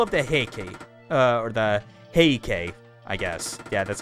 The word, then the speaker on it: Heike: Or the Heikei, I guess. Yeah, that's how you pronounce it.